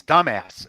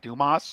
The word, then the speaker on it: Dumas: It's dumbass. It's not Dumas.